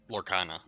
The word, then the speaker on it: Lorcana: What is the correct pronunciation, Petrus? Do you know? I say Lorcana.